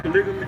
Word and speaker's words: polygamy: She's talking about how you say it? Polygamy, not polymony.